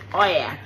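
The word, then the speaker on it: Oia: We joined a taxi to Oya, right? It's spelled Ohia, right?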